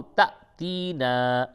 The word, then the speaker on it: تأتینا: تا حمزہ زبر تا، اس کا ہجے کریں گے، تا الف نہیں بولیں گے، اسے بولیں گے تا حمزہ زبر تا، اور یہ تا یا تی، نون الف مد زبر نا، او تأتینا، حمزہ کھڑا زبر آ